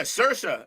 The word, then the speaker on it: Saoirse: And it's not pronounced any way the way it's spelled. Like, that's outrageous. How's it pronounced? Saoirse. Yeah, Saoirse is what Bree is telling us.